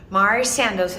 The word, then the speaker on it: Mari Sandoz: High Plain Heritage Center Mari Sandoz and that's how you really pronounce it was an author set